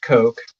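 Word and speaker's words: kok: And it's supposed to be pronounced Coke, but I will say cock because I'm a child.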